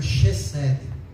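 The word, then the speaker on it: חסד: Eh, com as letras do nosso português, ela seria reced H e S D e é pronunciada por Xed.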